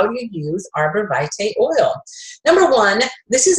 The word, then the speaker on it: arborvitae: today our oil highlights going to be arborvitae and that is the way you pronounce it some people pronounce it a different way I have heard from the company directly that it is arborvitae a so if you're pronouncing it some way